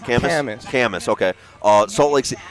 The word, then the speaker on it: Kamas: Camas.